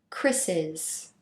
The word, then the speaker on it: Chris's: Notice how the pronunciation stays the same. Chris's.